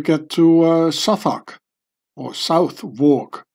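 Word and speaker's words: Southwark: to uh south or South walk as Americans would pronounce it and I would too maybe I don't know why they the London londoners pronounce it suak so here was um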